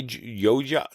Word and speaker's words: Yoj: I would say it's Y- I Yoja. It's Joy backwards. That's his name. Yoj Yoj Y O J